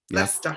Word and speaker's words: Leicester: Leicester. Yes. How do you say it? Leicester.